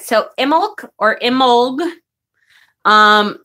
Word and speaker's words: Imbolc: one all right so imul or imul um the only thing that is constant is the B is not pronounced just so you know um but I have heard it pronounced uh emul uh and I have